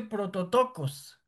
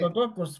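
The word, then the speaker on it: πρωτότοκος: No, Juan Carlos, no, que estaba buscando eh cómo se pronuncia en griego dice prototocos. Prim prototocos. Exactamente. Prototocos primogénito.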